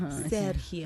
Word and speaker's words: Sergio: Sergio, any questions? Am I saying it right? Perfect.